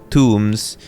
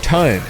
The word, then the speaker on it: tome: The corrupt tombs. The corrupt tombs. My friend Fred always used to mispronounce the word tome, spelled T O M E, as in a big old book.